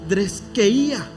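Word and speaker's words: θρησκεία: Y entonces la primera palabra que nosotros encontramos aquí, hermanos, es la palabra de dreskeía. Así se pronuncia, ¿ok?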